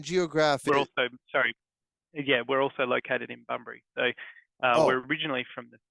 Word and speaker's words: Bunbury: Is it Bunbury?